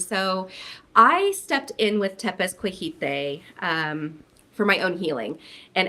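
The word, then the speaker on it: Tepezcohuite: So Tepezcohite is how you pronounce it.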